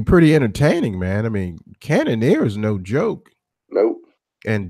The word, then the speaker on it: Cannonier: Cannonier? Yeah, Cannonier.